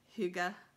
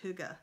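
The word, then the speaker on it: hygge: years ago I feel like that Danish word Hyuga right but it's spelled hyg GE it got really popular do you remember that everything was hookah no oh my god it was in every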